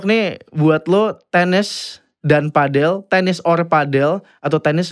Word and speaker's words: padel: Nah beberapa kan dikoreksi kan ee padel padel padle. Nah, yang kayak gitu-gitu kan mungkin kalau di dalam bahasa Inggris tuh ada. Cuma kalau misalnya sebenarnya pengucapan pelafalan itu adalah padel, padel, padel.